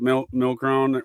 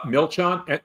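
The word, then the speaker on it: Milchan: when you look at Milron, how do you pronounce his name again? It was uh Milchon. M I L C H A N A.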